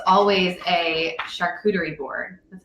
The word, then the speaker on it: charcuterie: And for me, it's always a charcuterie board.